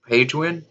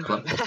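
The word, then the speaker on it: Prydwen: That's a whole completely story, and basically it involves like fucking like shooting down the Pagewind. How do you pronounce that? Pridwin. Yes. The Pridwin. Yeah, I said that wrong.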